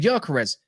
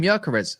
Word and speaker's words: Gyökeres: He's got the 2 dots above the O. You spell that as like Ozil. That's how it's like Gerson's.